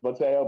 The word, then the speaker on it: Mateo: i have no idea most people say tail but it's mateo but people say ko